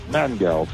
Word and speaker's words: Mangels: on today uh mangles I hope am I pronouncing your last name right yes uh mangals it's a German name it means uh sugar